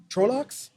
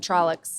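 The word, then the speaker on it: Trollocs: have a technical question are we pronouncing them uh trolox i pronounced some trollics charlottes i say trolox they're all just djs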